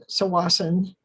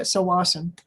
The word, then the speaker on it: Tsawwassen: The ferries are going to lead from two spots, from Horseshoe Bay and also from Tsawwassen.